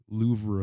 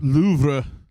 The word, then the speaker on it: Louvre: Fuck the Louvre. Yeah, you say it how it's spelled. Louvre. Louvre.